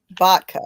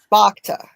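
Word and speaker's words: Bakhta: Vodka. Yeah. No, it's Bakta. Bacta.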